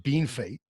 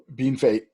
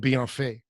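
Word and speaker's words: Bienfait: Oh yes, we call it Bean Fate. Bean Fate. We certainly don't call it Bien Fait.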